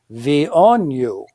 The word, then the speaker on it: VNU: And the joke was that the way you pronounce VNU was V on you, because it was this